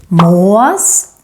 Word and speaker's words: Mås: More examples of the long and the short å are in these two animals. Mås, råtta. Mås, råtta. Mås with a long å is this annoying bird in Sweden that steals your food.